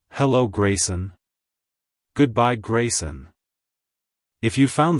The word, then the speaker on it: Graysen: Canada it's pronounced as Grayson Grayson Grayson to pronounce it correctly emphasize the first syllable gray and the S at the end avoid blending the two syllables together like hello Grayson goodbye Grayson if you